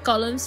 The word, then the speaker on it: golem: telling me this um he has to be referred to by the last bit which is of course golem that was quite funny actually much to his surprise this ends up being pronounced like gollum anyway on a side